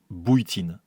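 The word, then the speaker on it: Bujtin: B u J T I N. Prononcé bouitine. Je m'en souviens maintenant parce que ça ressemblait à Botine.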